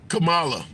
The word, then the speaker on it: Kamala: Okay, people, the vice president name is pronounced like the wrestler's name, Kamala.